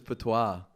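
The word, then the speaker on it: patois: But that word is also po, which is like the Rostafarian dialect.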